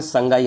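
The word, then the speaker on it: Sangai: dancing dear कहते हैं वैसे तो इसको हम संडा लिखते हैं बट इसको प्रोनंसिएशन में संगाई आता है स्पेलिंग हो जाएगी आपकी एस ए एन डी ए आई संडा हिरण ठीक है बट वो स संगाई प्रोनंसिएशन होगा और दोस्तों बात आई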